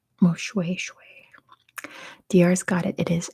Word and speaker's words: Moshoeshoe: It's spelled Moshue, like the word shoe, but it's pronounced Moshoeshoe.